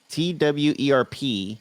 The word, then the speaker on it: TWRP: episode going twerp yeah twerp t-w-e-r-p t-w-r-p but it's pronounced twerp no so yes now